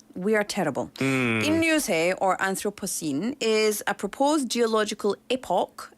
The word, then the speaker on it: Anthropocene: Anthropocene.